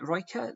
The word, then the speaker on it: Rijeka: Is it Rijeka? That's how you pronounce it in Croatia.